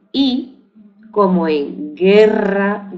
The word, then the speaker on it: guerra: g o gui ante la e i que se decía guerra o guitarra y no se pronuncia la u sin embargo ante eh